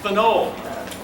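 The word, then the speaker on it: phenol: alcohol bhajan aromatic green is pronounced pinole ether very good the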